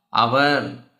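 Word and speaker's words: hour: ஏன்னா honest, honest. So first letter என்ன வருது? ஆ. அவர். ஃபர்ஸ்ட் லெட்டர் என்ன வருது? ஆ வருது.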